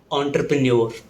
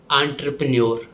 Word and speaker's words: entrepreneur: In British English, it's called entrepreneur. In American English, it's called entrepreneur with a sound. The word entrepreneur is often mispronounced as entrepreneur.